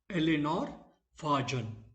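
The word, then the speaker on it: Eleanor Farjeon: How it is pronounced? Eleanor Fajon.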